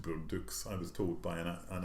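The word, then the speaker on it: Bourdouxhe: You know, the book I was just mentioning, Forbidden Notebook, there's a Belgian writer called Madeleine Bourdieu, or it's actually pronounced Bourdeux, I was told by an actual Belgian, who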